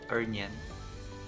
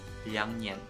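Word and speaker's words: 两年: Guys, it's not ernian. Liangnian. Supposed to be liangnian.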